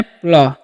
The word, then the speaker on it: play: PLAY लिखा हुआ है, तो PL का जो उच्चारण है क्या करना है, प्ल, ठीक है। और AY जब भी रहेगा किसी वर्ड में तो उसका उच्चारण एक ले कर देना, हो गया प्ले।